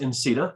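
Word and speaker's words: NCTA: Still could be pronounced INCETA, so we did.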